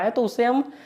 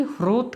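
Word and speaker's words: होतृ: तो जो कहें सही शब्द ह्रोत है लेकिन होता भी कहते हैं।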